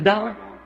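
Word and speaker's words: Daugh: C'est un allemand et à vrai dire son nom c'est D A U G H mais moi je le prononce simplement D.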